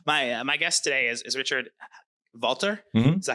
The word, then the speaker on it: Valtr: So my guest today is Richard Valtr. Mm-hmm. Is that how you pronounce it? Yep. Valtr.